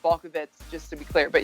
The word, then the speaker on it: Balkovec: So it's actually pronounced Balkovec, just to be clear.